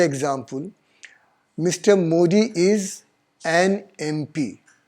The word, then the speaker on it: MP: Modi is an MP. अब यहाँ देखिए MP, M A से उच्चारण हो रहा है, तो अगर आप कहेंगे AMP, it is wrong. It should be an MP.